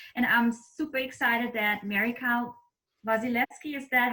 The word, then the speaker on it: Wasilewski: I'm super excited that Kyle Wasilewski, is that how you pronounce your last name now? Perfect. Wasilewski, but somewhere in there.